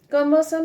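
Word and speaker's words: cumbersome: वन इज कंबल समम यहां पे आर is silent so सी यू एम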